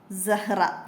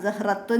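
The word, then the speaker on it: زهرة: ആദ്യം നമുക്ക് എന്താ വരുന്നത് സഹറ ഫ്ലവർ സ ഹ് റ സഹ്റ ഇവിടെ ഹത്താ ഉച്ചാരണത്തിൽ വരൂല സഹറത്തുൻ എന്ന് പറയൂലട്ടോ റഹ് റഹ് അവസാനത്തിൽ ഹ ആയിട്ടാണ് നിർത്തുക ഫ്ലവർ ഇനി ഇവിടെ സായിന്റെ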